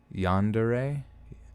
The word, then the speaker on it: yandere: in in chat at all times wait it's pronounced yandere Oh first off let me see how you say this one Lancashire Lancashire Lancashire all right so we're looking in the dictionary yawn dear yandere yandere that would make more sense so